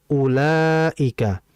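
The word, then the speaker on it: أولئك: Perhatikan, "ulaika" dibaca panjang, ya. "Mad wajib", "ula". "La" dibaca sebanyak 4 sampai 5 harakat, ya. Itu berdasarkan durasinya, ya, 4 ketukan atau dalam bahasa kita biasanya 4 hitungan.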